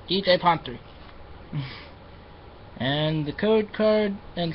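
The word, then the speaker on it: DJ Pon-3: despite how much my friend tells me it's pronounced DJ pony cuz it's Le speak no it's DJ ponre and the code card and song is smile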